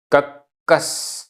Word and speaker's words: कक्कस: गाथा क्रमांक नौ उच्चारण कक्कस आधा क पूरा क आधा स पूरा स कक्कस वयणम कस वयणम कस